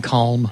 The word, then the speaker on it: calm: Mild manner right and I like that you pronounced the L in calm well that's the NPR